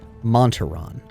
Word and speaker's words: Montaron: on how do you say how's his name pronounce montaron okay we'll put monterron in the second place spot because then if